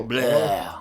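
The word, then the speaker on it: David Blough: Lions are using David Blau. I think that's how you say it. Blau, blue, bleh. Yeah. It's more like bleh.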